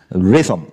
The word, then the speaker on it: rhythm: And this is with a Y. One of the few words that has no vowels, you know. But why X is a vowel here? Yeah? It's a short I actually.